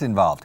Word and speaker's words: involved: Pero la segunda V es como un F.